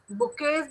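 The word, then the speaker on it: bouquets: बुकेज भी बनाते हैं, बुकेज में देखिए T silent, BOUQUET, T silent, तो ये भी बेचते हैं।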